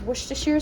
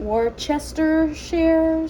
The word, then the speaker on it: Worcestershire: How I've learned how to say it is Worcestershire sauce. I know some people call it Worcestershire sauce.